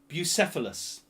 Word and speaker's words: Bucephalus: I looked it up to remember how to pronounce it. So what historical figure had a horse called Bucephalus? B-U-C-E-P-H-A-L-U-S.